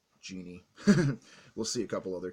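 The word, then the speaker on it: Djinn: a former assassin, and Genie, which is spelled D-J-I-N-N, Genie.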